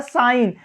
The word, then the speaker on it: sign: या लास्ट में आए, लेकिन जी के जस्ट बाद अगर यन आता है तो वहां जी हमेशा क्या रहता है, साइलेंट रहता है।